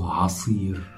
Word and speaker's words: عصير: So juice is asir, asir. Juice, asir, in Egyptian dialect and also in modern standard Arabic. Asir, juice. Don't forget to pronounce the ayn right.